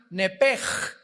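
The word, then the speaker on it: נפש: en el hebreo es nepesh, se pronuncia nepej. La ch en hebreo se pronuncia como J.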